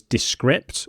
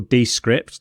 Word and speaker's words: Descript: And the editing tool that you mentioned was Descript or Descript, depending on how you pronounce it.